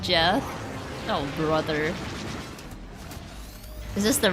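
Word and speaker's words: Geoff: Is it Is Goff pronounced Goff or Jeff? I am bad for this. I never knew how to pronounce it in my head. It's pronounced Jeff.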